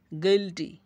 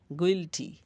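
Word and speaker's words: guilty: স্বরবর্ণ ভাওয়েল না থাকে, তখন ইউ আই এর উচ্চারণ ই এর মতো হয়। যেমন গিল্টি গিল্টি দোষী, গিল্টি।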